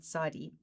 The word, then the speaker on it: Tsade: And so phonetically, in the English, it is that sound, as in mitzvah, or as in if you say pots, it's that sound that is Tsade.